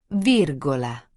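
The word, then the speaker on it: virgola: En español decimos coma. En italiano no se dice coma, se dice vírgula.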